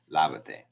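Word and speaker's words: lávate: But when I add the te to it, it is now the same syllable is always going to be the stressed one. But now its relation to the end has changed. So we need to write an accent mark over that a, lavate.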